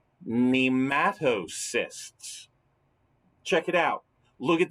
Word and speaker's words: nematocysts: experience a specialized structure that they possess called nematocysts check it out look at that word and